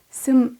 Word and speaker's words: 습: 팀이 치유 라는 뜻입니다 이 문장에서 습은 혼자 발음할 때는 습 인내의 뒤엔 이와 같이 발음하면 슴 으로 발음이 변합니다 세 번째 문장을 읽어